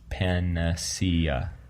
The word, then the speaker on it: panacea: It looks like it's pronounced panacea, which I think is what you said.